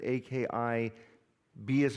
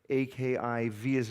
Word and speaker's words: Akiba: Is it A-K-I-B as in Bravo A or A-K-I-V as in Victor A? And in rabbinics, it's actually pronounced Akiva, as though there's a Victor, V for Victor, but we pronounce it Akiba.